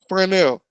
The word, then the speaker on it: Fresnel: So this includes a zone around the visual line of sight, and it is known as Fresnel. Can you see the spelling? That's the pronunciation. Fresnel. So Fresnel zone is an elongated football shape.